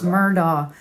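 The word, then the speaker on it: Murdaugh: Murdoch right murder people don't know how to pronounce it correctly it's murder it is Murdoch you're from the south it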